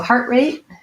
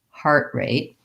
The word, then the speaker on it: heart rate: about heart rate so heart rate basically is a compound noun where i'm going to have almost equal stress on both words primary stress on heart heart rate and we have a tendency to use that uh stopped t on both of those so rather than heart rate with a release t i just lift up for the t heart rate um the heart has